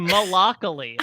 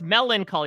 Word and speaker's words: melancholy: you're not even saying you're saying malacally like you're just looking out it's Melancholy you're taking out like an entire syllable of it Melancholy Mel long Coley oh melon you're not articulating your end though it feels very much like you killed the consonant in the middle there Vanna White's deeply upset